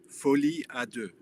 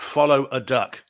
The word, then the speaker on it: Folie à deux: And guys, just regarding Tuesday's show, the pronunciation is Joker Folie à deux. Not Folie follow a à duck. deux. It's Yeah. not follow a duck.